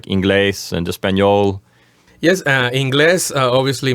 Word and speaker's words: inglés: And also, as you can see, the accent is over the E, so you would say inglés as opposed to inglés. In English, we would say English. The accent would be in the first syllable. In Spanish, it would be the opposite. It would be in the second syllable, inglés.